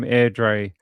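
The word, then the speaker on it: Airdrie: They're from AirDre in Scotland because all Scottish words are pronounced like they have random H's, L's, I's, E, Z's, T's, L's, more L's, and E's in random places.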